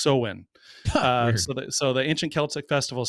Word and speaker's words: Samhain: of of it's spelled s-a-m-h-a-i-n-s it looks like samhain but it's pronounced so-win so the ancient celtic